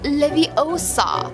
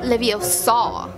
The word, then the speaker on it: Leviosa: excited when godum Leviosa you're saying it wrong it's Leviosa not levosa it's levosa not levosa i' like poop her